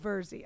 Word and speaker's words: Virzi: Virzi.